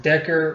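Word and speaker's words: Dacre: Billy his name is I think it's pronounced Decker Montgomery he was really good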